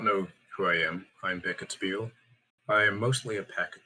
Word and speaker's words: Beckett Behel: But yeah, Beckett Behel, that's how you pronounce my name. Last name is a silent H.